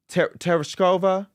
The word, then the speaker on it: Tereshkova: Tereshkova? Valentina Tereshkova.